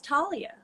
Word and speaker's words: Thalia: and the goddess of comedy is talia but it's spelled with a th yes he was actually